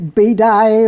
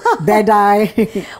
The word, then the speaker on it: Bedi: welcome to the show I like the way you pronounce my name usually it's Bai or something like that so bedy well the funny story